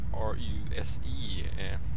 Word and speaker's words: RUSE: And the second game is Ruse, or R-U-S-E. It's spelled R.U.S.E, but I think it's pronounced Ruse.